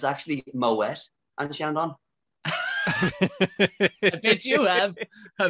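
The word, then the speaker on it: Moët: a that says it's actually moet anderson did you have i bet you have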